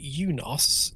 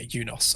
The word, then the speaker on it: UNOS: Unos Unos uh I I pronounce it eunos in in honor of Unix right so it's it's the United Nations operating system um but yeah eunos after Unix could have